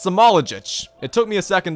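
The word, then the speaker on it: Smailagić: It's Samoljic. It took me a second to pronounce it correctly, but I finally figured out,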